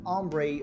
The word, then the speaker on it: Ambre: It is this one here, Ambre Leather. Or maybe it's pronounced Amber Leather, but when you look at it in this Tom Ford style bottle, you definitely want to say Ambre Leather, like it's supposed to